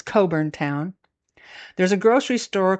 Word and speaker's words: Cockburn Town: Back in Coburn Town, seriously, it's spelled like Cockburn Town, but it's Coburn Town.